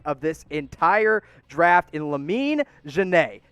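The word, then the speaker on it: Lamine Diane: the indiana pacers take my sleeper pick of this entire draft in lamine jenae yes that's how you pronounce that name i know it doesn't look like it but i promise it is a kid out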